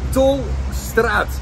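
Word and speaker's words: Tolstraat: It's pronounced the Tolstrad, my friend.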